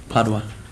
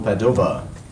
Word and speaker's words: Padova: Padua. No, Padova.